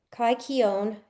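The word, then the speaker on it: kykeon: Kai Kion, that's spelled K Y K E O N, is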